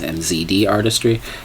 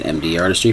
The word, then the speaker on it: MZD Artistry: said my name wrong it's mzd artistry i said md artistry forgot my brand um